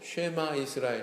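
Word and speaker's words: שמע ישראל: 이스라엘아 드러나 쉐마 이스라엘 히브리 어로 그대로 쉐마 이스라엘 이렇게 발음 하거든요 2회말 라고 간단하게 쉐마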